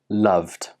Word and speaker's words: loved: Even though these words are spelt with an ed, they do not end with an id sound. Instead, they end with the d sound.